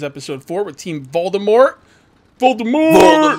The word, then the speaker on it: Voldemort: four with Team Voldemort Voldemort vort not Walmart not walmort Voldemort noobs learn how to say it and I'm here with